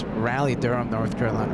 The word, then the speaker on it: Raleigh: Raleigh thank you John Raleigh that's not the locals pronounce rally Durham North Carolina right